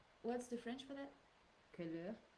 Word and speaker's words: couleur: Couleur. Yeah, with the ou.